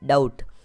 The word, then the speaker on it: doubt: अगला वर्ड है DOUBT, यानी DOU को हम डाउ पढ़ेंगे और बी हमारा साइलेंट रहेगा और टी को हम ट पढ़ेंगे, तो ये हो जाएगा डाउट।